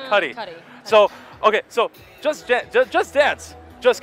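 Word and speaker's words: Cudi: how you say it I always mess it up I always want to call him cutie it's not kid cutie it's kid Cy so okay so just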